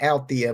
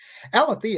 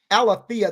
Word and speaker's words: Alethea: I've been saying Althea, but it's spelled Alethea Duncan. Alethea is a pretty name, actually.